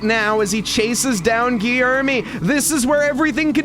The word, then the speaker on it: Guilherme: And it's Guilherme. Guilherme's taking the lead. We got the pronunciation, and he's got the lead of the race, Mike, but Drivenage is not giving up on this one.